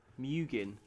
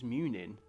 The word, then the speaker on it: Munin: Mugin. It's Munin. And Hugin. Oh, I see. They've just like swapped the second syllable.